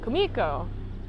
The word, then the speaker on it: Kumiko: Kumiko, I gotta pronounce her name right. Kumiko.